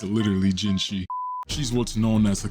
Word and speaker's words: Jinhsi: This is ginshi. That's spelled and pronounced as imashio. I That's Japanese. Is jinshi not Chinese? She Okay, I I did not need a translator for that. It's literally ginshi.